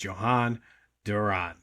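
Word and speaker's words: Jhoan Duran: picked up Johan Duran, which I believe is the correct pronunciation. You're probably going to hear all kinds of different pronunciations of it, but from what I'm gathering, it's Johan Duran.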